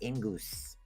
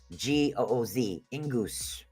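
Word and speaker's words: Ingwaz: Ingus. Okay? It's pronounced Ingooz. Ingus. Yeah, I don't know. There's a W in there. I don't ask. That's just how it's pronounced.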